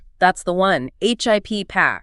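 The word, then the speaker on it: HIPAA: HIPPA. Remember that long a sound at the end?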